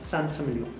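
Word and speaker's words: Saint-Émilion: what the guest is going to ask for santa meal because that's the sort of known name within this style of wine pronounced santa milo so the origin of sentiment on sentiment is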